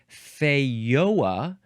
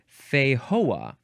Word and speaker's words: Feijoa: It is pronounced either feioa or fehoa. And I guess I'm not entirely sure which one is probably more accurate. But anyway, it is spelled Feijoa. I suspect feioa might be more accurate because it is first.